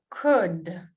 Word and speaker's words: could: So it's more like look, cook, wood, book, could, should. Note how L is silent here. Wolf, woman.